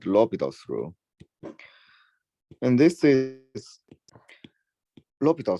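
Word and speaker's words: L'Hôpital: the famous rule called lobitals Rule and this is Lupita through because it's a French name so we prefer not to call it our hospital or whatever pronunciation we might have it's a quite nice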